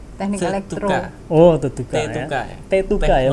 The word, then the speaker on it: Tetuka: Tetuka ya bacanya.